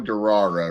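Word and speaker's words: Durarara: with it, the title, Darra, right? It's it's spelled like D U R A R A R A R, but it's it it's supposed to imitate the sound of a motorcycle.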